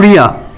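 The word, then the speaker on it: リョ: री प्लस या प्रोनाउंसिएशन है रिया। 1 2 री प्लस यू प्रोनाउंसिएशन है रियू। 1 2 री प्लस यो प्रोनाउंसिएशन आता है रियो।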